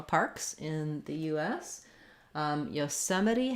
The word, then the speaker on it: Yosemite: about how to pronounce yosemite yosemite so this is the national one of the national parks in the u.s um yosemite has second syllable stress we have our o